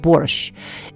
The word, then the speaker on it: borsch: T at the end there is no letter T in Russian pronunciation it's pronounced borscht n it comes from